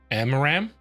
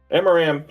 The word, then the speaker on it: Amaram: I got to learn how to say his name, don't I? Amaram. Amaram. That's the one you want to go to Cadillas's war camp and talk to Amaram.